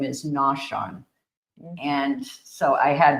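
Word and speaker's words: Naushon: I found out that Province Town's native name is Noshan and so I had Mishan and I think Simeon Deo misspelled it or mispronounced it.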